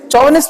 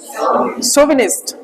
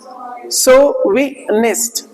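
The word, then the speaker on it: chauvinist: अच्छा ये सच्ची बताओ, आपने पहले क्या पढ़ा था, चौविनिस्ट पढ़ा था, असल में क्या होता है? सोविनिस्ट। सोविनिस्ट बोलो, सोविनिस्ट। देखो सो तो यहां तक हो जाता है, वी यहां पे हो गया, निस्ट, सोविनिस्ट। आप देखोगे तो क्या है, च को श के साउंड में भी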